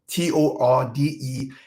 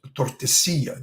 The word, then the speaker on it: Tordesillas: And one other puzzle is that the Treaty of Tordesillas in Portuguese, Tordesilha, in Spanish, Tordesillas, the double L pronounced in Y.